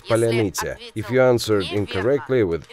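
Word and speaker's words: паляниця: In Ukrainian, it's polyanitsa. If you answered incorrectly with errors or mispronounced, on your knees and a bullet to head.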